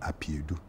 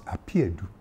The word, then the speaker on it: Apeadu: Number one, the proper pronunciation of my middle name is not Apeadu, it is Apeadu. Okay. See, intonation is everything.